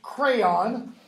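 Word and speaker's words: Creon: There's his name is pronounced crayon, like the things you used to color with.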